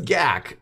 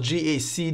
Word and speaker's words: GAC: now all right so what is gak mainly a word I made up it's actually pronounced G AC g AC motors it